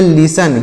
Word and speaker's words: listen: यहाँ पर T silent है, यहाँ पर भी टी साइलेंट है, इसे नहीं पढ़ा जाएगा, इसका उच्चारण नहीं किया जाएगा।